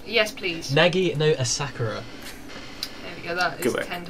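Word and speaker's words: Nagi no Asukara: Shall I do the pronunciations? Yes, please. Nagi no Asakura.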